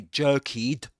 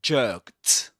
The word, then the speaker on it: jerked: But we say we don't say jerkied. We say jerked. So the ending is pronounced as jerked.